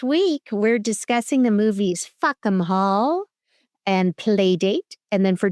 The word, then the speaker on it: Fackham Hall: Well, my Sushi, this week we have our first movie, Fackham Hall, pronounced in an English accent as if they're saying fuck 'em all. So Fackham Hall is a wild period